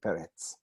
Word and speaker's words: Peretz: One of my fellow teachers used to call me Peretz from Eretz. It also rhymes with sheretz, which is a creepy, crawly, awful thing, but we tried not to think of that.